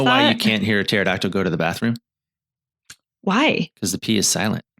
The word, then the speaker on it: pterodactyl: Do you know why you can't hear a pterodactyl go to the bathroom? Why? Because the P is silent.